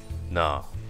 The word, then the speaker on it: Gnar: you this new champion nah or I think it's not anyway with the silent G anyway the store is